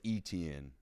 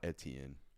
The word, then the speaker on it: Etienne: By the way, it's ETN. It's not Etienne.